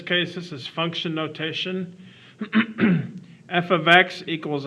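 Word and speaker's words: f(x): It's actually pronounced f of x.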